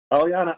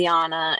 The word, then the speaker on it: Alianna: Alianna, I've been pronouncing your name Alianna.